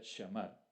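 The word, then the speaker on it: שָׁמַר: Bien, guardar es una palabra hebrea, que pronuncia shamar y se utiliza con frecuencia en el Antiguo Testamento, como lo estamos viendo aquí en Deuteronomio.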